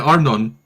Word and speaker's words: Arnon: Arnon as in anonymous. Yeah, like just like that. Yeah, Arnon.